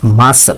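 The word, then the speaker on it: muscle: মাসল, মাসলের ক্ষেত্রে যদি খেয়াল করি, সি এর উচ্চারণটা কিন্তু পুরোপুরি আসে না।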